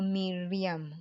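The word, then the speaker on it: Myriam: So here we have her Y that gives the sound E for Miriam.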